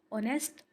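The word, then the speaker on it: honest: ऑनेस्ट students, हमने पीछे silent letters में भी ऑनेस्ट पढ़ा था जिसमें एच जो था, वह साइलेंट था। इसलिए ओ से आवाज इसकी स्टार्ट हो रही है। ऑनेस्ट यानी ईमानदार always speaking the truth and being fair.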